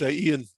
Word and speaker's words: Ian: By the way, my name's actually pronounced Ian, not Ian.